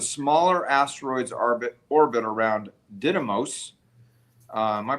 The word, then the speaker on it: Didymos: had already shown that the smaller asteroids orbit orbit around Didymos. Am I pronouncing that right? Didymos? Didymos, yeah.